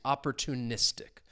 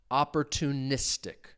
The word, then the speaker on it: opportunistic: So the stress is on that second to last syllable. Uh one rule when it comes to some of these longer words because that tic is a common ending and when a word ends in that the stress is generally on that second to last syllable. It's on the syllable before it.